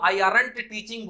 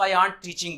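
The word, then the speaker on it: aren't: अगर आपको आरंट pronounce करना है तो इसको आंट प्रोनाउंस, आंट मतलब चाची, वो वाला प्रोनाउंसिएशन करना शुरू करिए आंट। नहीं तो इसको आपको आई आरंट टीचिंग बोलने में बड़ा खराब लगेगा, इसलिए इसको आई आंट टीचिंग बोलना होगा।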